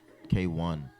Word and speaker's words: Kwan: K1 K1. You see that? Huh? This? Yeah. No. Up. Pron. Up. Oh, pronounced K1.